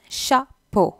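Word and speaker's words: chapeau: அண்ட் தொப்பியை ஷா போ தான் சொல்லணும். அந்த இஏயு அந்த என்னிங் ஓ மாதிரி இருக்கும், ஷா போ.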